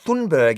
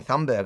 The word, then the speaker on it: Greta Thunberg: So, this is the tale of Greta Thunberg. Everybody's realized that we've been saying her name wrong the whole time. Now, it's I've been saying Yeah. I've been saying Thumbberg. I didn't realize it's Thunberg.